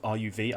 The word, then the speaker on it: Ruv: I think the player you want to watch out for when you're watching this team is Ruv, R-U-V. I think it's pronounced Ruv.